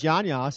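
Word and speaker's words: Jan Jas: His name is Jan Yass. His name it's spelled Jan space Jas.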